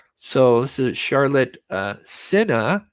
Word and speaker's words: Sena: this is Charlotte uh Cena is how the last name is pronounced not Cena um nine years old